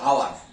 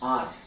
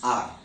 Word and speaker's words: hour: Alright, next one আওয়ার, লোকে বলে আওয়ার, নো, ইজ আর, ঠিক আছে? H is silent over there, so it's R.